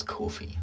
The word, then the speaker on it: Ko-fi: See, it's Ko-fi. Apparently that is how you're meant to pronounce it.